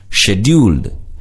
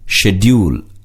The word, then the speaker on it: schedule: Scheduled. இச்சொல்லினை இரண்டு விதமாக உச்சரிக்கலாம். schedule அல்லது schedule இரண்டுமே சரியான உச்சரிப்புதான். Shops are not far behind.